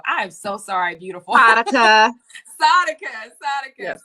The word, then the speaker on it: Saadiqa: I always say your name wrong. I am so sorry, beautiful. Saadiqa. Yes. Saadiqa.